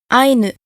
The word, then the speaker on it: aynu: If the first syllable of a word is closed, it is accented. So, for example, the following words have the accent on the first syllable: aynu: person, and actually the